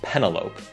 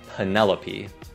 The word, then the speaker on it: Penelope: Không phải Penelope, mà là Penelope.